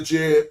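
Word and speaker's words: Djed: e d pillar but it's written DJ e d pillar but you don't pronounce the d you don't say the Jed pillar you really say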